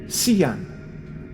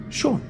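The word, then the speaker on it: Seán: She pronounced her husband's name as Cian, but Sean is pronounced Sean in Ireland.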